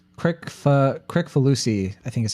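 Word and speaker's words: Kricfalusi: I don't know how to actually It's pronounce like his real name. Crick Falusi, I think is how you say it.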